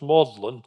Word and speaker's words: Magdalen: now UNG graduating is awarded a fellowship at modlin that's how this this word looks like mag Magdalene is actually pronounced modlin college and that was his home until 1954